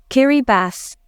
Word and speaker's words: Kiribati: kiras kiras kir Kass Kiribati is kiras Kiri bass how how there's a te you know you know